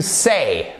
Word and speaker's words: say: Et c'est pas to say. Ok, c'est pas un E, accent grave comme ceci, c'est pas le E. Le « est », non. C'est « to say », « et », c'est une diphtongue.